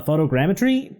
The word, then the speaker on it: photogrammetry: a technology called uh photogrammetry that's how you pronounce it right yes so yes